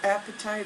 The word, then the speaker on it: apatite: the crystal apatite and it's spelled look like food apatite that a P a TI te apatite is a Bluegreen crystal